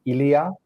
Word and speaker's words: Ilya: from Russia how do you say your name Ilia uh yes correct okay not bad not bad